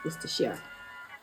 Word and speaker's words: Worcestershire: I don't know why some of you don't know how to pronounce this. It's literally so easy. It's Worcestershire.